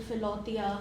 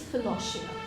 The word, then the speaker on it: Philautia: of Philosia Club, so previously I've heard very wrong pronunciation of Philosia. So what is the correct pronunciation I of know it? some people call it Philotia, some people call it God knows what all names I cannot even speak. But yes, it is Philosia.